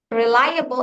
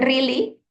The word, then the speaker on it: reliable: Nah, ini ada beberapa strength reliable. Eh, how do you pronounce this word? Reliable. Can you mention once again, please? Reliable. Iya, bukan really, tapi rely. Reliable.